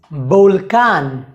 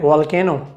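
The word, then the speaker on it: volcán: अगला नियम यह है कि स्पेनिश में उ बे या वे का उच्चारण बे जैसा होता है, बे बे।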